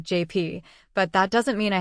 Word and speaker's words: JP: He insisted on calling me. I mean, I get it. It's the Spanish pronunciation of JP, but that doesn't mean I have to like it.